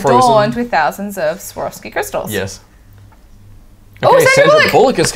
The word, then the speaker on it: Swarovski: He just mispronounced Swarovski. It didn't sound anything like Swarovski. It was like Zarovsky.